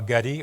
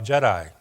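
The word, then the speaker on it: Gedi: main star is el getty or el jedi can pronounce it either way it's g-e-d-i and it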